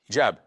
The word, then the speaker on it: hijab: Ce à quoi tu fais référence, c'est hijab, avec un H. Et je sais qu'en France, il ne prononce pas le H quand il est au début du mot, comme dans hôtel ou loi, mais c'est un mot arabe. Donc, nous sommes musulmans, nous devons dire hijab.